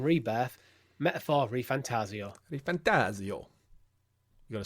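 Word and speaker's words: ReFantazio: tree Final Fantasy 7 rebirth metaphor ref fantasio re fantasio you got to say it like that fantasio re fantasio um we're not going to get into the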